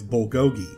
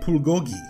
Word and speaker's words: Bulgogi: I think basically anyone outside of Korea knows this word as Bulgogi. When you walk into Bulgogi and sit down, the server welcomes you by saying, "Welcome to Bulgogi." But in Korea, it's pronounced Bulgogi.